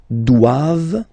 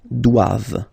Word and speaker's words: doivent: All right, and then the last one, ils doivent. So same thing, classic ending for the plural form, ENT here. Okay, but then you don't pronounce it. Doivent, doivent, elles doivent.